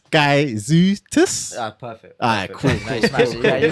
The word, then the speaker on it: Gaizutis: It's Gaizutis. Perfect. Alright, cool. Yeah, you redeem yourself. Redeem myself. Yeah, told you about this pronunciation.